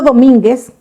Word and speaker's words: Domínguez: O sea, cuando la U se va a mencionar y no se va a quedar muda, como por ejemplo en el apellido Domínguez, que se escribe con U, aunque modernamente también lo suelen escribir ya actualmente sin U, y no le ponen los 2 puntos, significa que la U no suena, pero si marcamos los